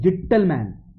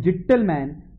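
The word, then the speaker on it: Gitelman: Please call it Gittleman. Why? If you call it Gittleman, you pronounce T most prominently, and that is for thiazide, and you know the defect is in the DCT.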